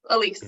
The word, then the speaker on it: Elyse: First of all, am I pronouncing it correctly? Elyse is all right? Yes, Elyse. Great.